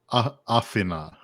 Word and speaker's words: Afina: Afina. Like Athena. Athena.